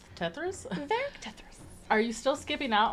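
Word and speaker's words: Tethras: Tethers? Yeah, Are Eric's you- last name, Tethris. Oh. I mean, I just didn't know how to say it. Oh, I was yeah. like, Tethers? Eric Tethris.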